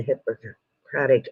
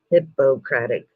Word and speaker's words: Hippocratic: Hippocratic. Thank you, JM. Yeah, it's not that I can't read the big words. I pronounce big words wrong or differently. But yes, thank you for telling me it's hippocratic.